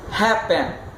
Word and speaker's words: happen: Happen. Mesma coisa, não é happen. Happen. A sílaba tônica está lá no Ré, lá no início.